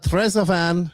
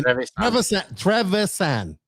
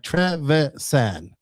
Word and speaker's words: Trevisan: Now a lot of people may Trevisan. I knew he was gonna say I'm gonna say it wrong, and I was like, I gotta say it right. Trevisan.